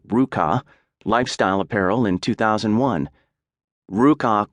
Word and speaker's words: RVCA: Looking for a fresh start on his own terms and timing, Hayes co-founded RVCA, pronounced Ruka, lifestyle apparel in 2001.